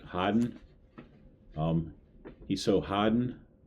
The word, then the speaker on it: harden: Okay, so this next word, harden, but I I've heard my wife pronounce it a little different uh differently when she's talking about my son, and it's kind of like um Haden, right? Haden.